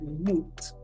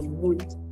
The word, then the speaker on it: muito: You will hear, they would also use the muito sounding more like moot. Okay? So moot.